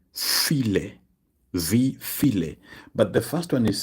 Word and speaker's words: wie viele: Now, when pronouncing it, the E has to be emphasized, okay? Because if you just say wie viel, it might mean something else. So this wie viele simply means how many.